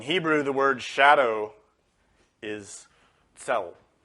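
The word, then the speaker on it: צל: In Hebrew, the word shadow is tzel. It's spelled Tzadi Lamed.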